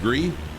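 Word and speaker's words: Gris: yes grace gree green i guess it's pronounced green g-r-i-s it was an amazing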